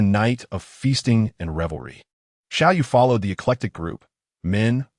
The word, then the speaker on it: Xiao: Beside him, a blue-eyed foreigner, eager to learn, was engrossed in a new Chinese dictionary and called out to him, "Little fish, it's Shiau," he corrected.